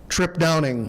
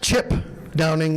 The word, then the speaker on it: Trip Downing: The winner for 2025, the Dan Hannis Super Farm Award, goes to Trip Downing. Or in other words, Chip Downing if you're Greg Elsing. We got him to finally say it correctly, Trip.